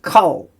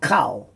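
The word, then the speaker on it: כָּל: there here it is coal right and why is a coal not cow well because the camat's grammar rule makes it a short o sound in a closed unexcended syllable usually the first it's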